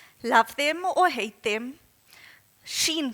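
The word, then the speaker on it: Shein: them or hate them Sheen comes to mind could pronounce as Shen and what they've done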